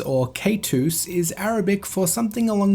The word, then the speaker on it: Kaitos: Kaitos, or Kaitus, is Arabic for something along the lines of sea monster or whale. The pronunciation of this is pretty clear, it's definitely not pronounced with an I sound.